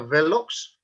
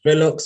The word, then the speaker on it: Vellox: Now, today I have a very special guest, and his name is Vellox. Have I pronounced that correctly? Yes, you have. It's Vellox or Vellox.